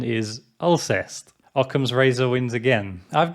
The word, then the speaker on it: Alcest: knowing this band is from france i've been pronouncing the band name i'll say like i'll say but i quickly looked into it before making this video and found that the correct pronunciation is ulcers occam's razor wins again i've been into black